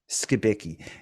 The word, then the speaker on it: Skibicki: You just released an amazing video on, correct me if I get the pronunciation wrong, Jeremy Skibicki? Skibicki.